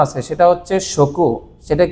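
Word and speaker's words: 食: এবং এই কাঞ্জির আরেকটা উচ্চারণ আছে, সেটা হচ্ছে শকু।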